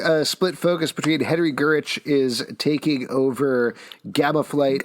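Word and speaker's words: Gyrich: So then this issue, we're getting a split focus between Henry Gurich is taking over Gamma Flight. I think it's Gyrick. Yeah, it's Gyrick? Have I been pronouncing it wrong my entire life? Yes.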